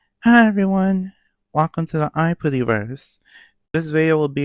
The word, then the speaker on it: Aipri: I kind of pronounce Aipri with a Japanese accent to try to stay faithful to the way that's pronounced in the anime.